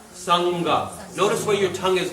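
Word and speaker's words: saṅgha: But if you put it next to the ga, sangha.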